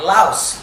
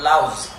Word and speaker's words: louse: Right, louse, not louse.